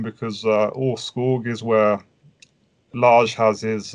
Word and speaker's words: Åskog: because we felt i'm sorry how do you pronounce the name of your band or skog i have been calling him asked everybody does